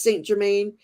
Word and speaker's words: Saint Germain: know it's you know how I know it's Saint Germain um Silver Star Priestess is because I always because it it rhymes with Violet flame St Germain The Violet